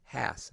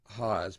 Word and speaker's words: Haas: guest haas today i almost said hass after just talking with him about the fact that it's pronounced haas that's all right another